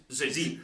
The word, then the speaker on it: Tzeentch: two silent T's in there are two silent T's in but he pronounced Zen